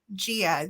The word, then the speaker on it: Gia: we are okay now do you pronounce it Gia or Geo how do you do it Gia that is correct all right so I'll